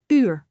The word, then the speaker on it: uur: For example, in the word uur, which means our, let us break it down. Ur. Ur. Repeat after me. Uur.